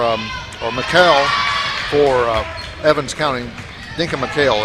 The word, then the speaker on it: Denka McHale: Denka McHale, that's the way she pronounces her name.